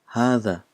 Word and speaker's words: هذا: son it's not a long son but we pronounce this as hatha so the reason why is originally this Aleph